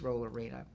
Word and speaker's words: Rollerena: arena but I pronounced I actually spelled my name Roller arena like a roller skating rink arena but it was roll arena and it just another